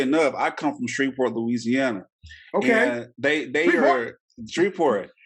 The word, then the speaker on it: Louisiana: I love Louisiana. Actually, it's pronounced Louisiana. It's not pronounced Louisiana. It's Louisiana. Louisiana.